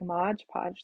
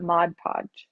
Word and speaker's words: Mod Podge: you could use like Modge Podge the same way is that how you say it Modge Podge or is that Mod Podge I don't know I say Mod Podge because that's how it's written but I know a